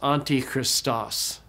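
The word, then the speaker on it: Ἀντίχριστος: We put them together and we get Antichrist, and it's pronounced Antichristos. So that's it for the rules.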